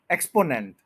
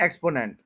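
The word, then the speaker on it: exponent: तो हम इस वर्ड को कहते हैं एक्सपोनेंट, एक्सपोनेंट, एक्सपोनेंट। लेकिन जब हम प्रोनाउंसिएशन वाली फील्ड में आते हैं तो पता चलता है कि इसके थ्री सिलेबल्स हैं, वन टू और ये थ्री है।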